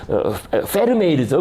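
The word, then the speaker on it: Vermeer: 옵스큐라를 이용해서이 그림을 그랬잖아요 베르메르 나 이런 사람들 다 그죠 그죠 어 그 페르메 이르죠 그죠 발음 원어로는 페르메이르 같은 사람은 요거 렇게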